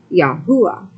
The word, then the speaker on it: Yahuwah: proper transliteration of our father's name as y-a-u-a yahuwah having lived with the Israelites who have been